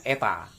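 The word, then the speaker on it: η: ini ya jadi efisiensi lambang nyaeta ini bacanya eta na at untuk melambangkan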